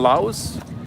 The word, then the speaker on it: Laos: You You leave out the S.